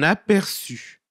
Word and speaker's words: aperçu: Personne ne s'en aperçut. Aperçu, attention, n'oubliez pas le petit signe qui se placera en dessous de la consonne qui fait la prononciation s dans aperçu.